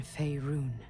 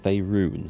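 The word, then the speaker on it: Faerûn: I'm glad someone actually told me eventually how to pronounce that word, Faerun. I'll have to try and remember it's pronounced like that. And not Faerun like my ignorant Yorkshire upbringing would suggest.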